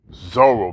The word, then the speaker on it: Zoro: It rhymes with Bolo. Zoro, baby.